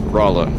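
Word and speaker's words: Rolla: So Delta's saying locally it's pronounced Rola.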